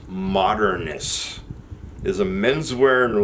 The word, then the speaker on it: MDRNST: Oh, it is pronounced Modernist.